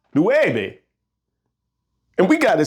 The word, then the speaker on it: nueve: would sound more like neube, and that ain't right. So how would we fix this? Think about it. How is you pronounced? A U in Spanish is pronounced U.